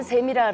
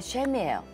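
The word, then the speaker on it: Shem: 샘이랑 똑같아요 발음이 똑같아요 우리는 샘이라 그러는데 셈이에요 그러면 자 구조를 봐요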